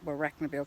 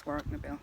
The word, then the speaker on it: Warracknabeal: I only pronounce it Warracknabeal because that's what the GPS says, but apparently that's wrong, it's Warracknabeal.